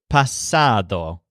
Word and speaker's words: pasado: this represents the word pasado which means past but it has the stressed syllable sad pasado this can be used